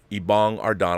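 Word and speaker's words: Ibong Adarna: another epic poem is ibong ardana ibong ardana i got it i got it right he gave it to me phonetically so it's good written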